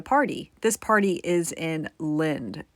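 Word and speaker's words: Lynd: to attend a party this party is in Lind it's a town it's spelled l-y-n-d and it's pretty close to his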